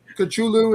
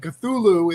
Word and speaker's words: Cthulhu: Cthulhu is how some people say it. Cthulhu is the way I say it, and the way I prefer, and the way Americans say it.